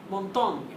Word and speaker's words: Montaigne: So our next guy is another French guy, and his name is Michel Montaigne. Michel Montaigne. I love to say Montaigne almost as much as Machiavelli. Michel is spelled M-I-C-H-E-L, and Montaigne is M-O-N-T-A-I-G-N-E.